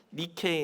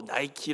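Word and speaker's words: νίκη: 헬라어로 승리 라는 뜻입니다 넬라 워 발음은 미케 인데 영어로 나이키 로 이렇게 더 편향이 되서 더 유명한 운동화가 되었습니다 뭐 승리 그리고 이 지는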